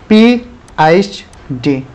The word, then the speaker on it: PhD: ठीक है, स्टार्टिंग कहाँ हुआ ये, eight times as पीएचडी in north America, pronunciation as 3 separate letters पीएचडी।